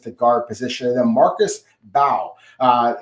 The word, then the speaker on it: Bao: Then Marcus Bao, uh, MB O, but it's pronounced Bao for those of you